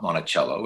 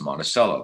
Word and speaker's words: Monticello: you know in minnesota we say monticello it's not monticello it's monticello that's the city there's a prison there